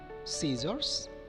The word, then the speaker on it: scissors: For example, muscle, scissors, scene, fascinate, as if there were no C here.